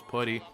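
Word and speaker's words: Puhty: Shout out to my boy, his name is Putty. He actually does stream on Twitch. Make sure you guys do check him out. Like I said, his name is Putty, which it's spelled P-U-H-T-Y.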